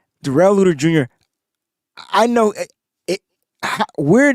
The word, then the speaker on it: Darrell: spelled like Daryl, looks like Daryl, but it's pronounced Darrell. Darrell Luter Jr.